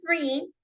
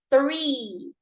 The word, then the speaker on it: three: el number Three en el caso del number three la pronunciación no es como en el caso de